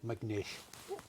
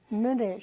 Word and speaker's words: Minish: McNish. Scotch Irish. No C in it. M-I. Yeah. Minish.